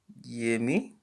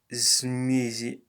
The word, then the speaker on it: змея: Yemi? No, it's Измея.